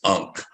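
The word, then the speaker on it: ankh: the bunk astrologer um i know it sounds a little bit different than it's spelled uh well i spell it two different ways uh some people uh spelled a-n-k-h how is it facebook so on facebook is a-n-k-h okay a-n-k-h with a silent h unk but sometimes people just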